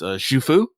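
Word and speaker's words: Xu Fu: Shufu? Is that how you pronounce it? Yeah, the X should be a shu sound.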